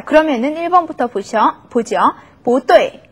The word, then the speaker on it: 不对: 不对. 자, 4성이니까 2성으로 바뀌었죠. 不对.